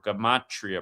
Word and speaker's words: Gematria: You got to learn what Gematria is or Gematria, pronounced both ways.